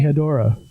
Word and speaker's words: Hedorah: Is it Hedorah or Hedorah, or what's the pronunciation of the Smog Monster? Should be Hedorah.